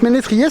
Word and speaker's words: ménétrier: connaissais pas ce terme alors le s a priori on le prononce pas c'est juste pour dire qu'il a un accent que c'est plus ont donc c'est mais les trier et donc ménétrier c'est vraiment la même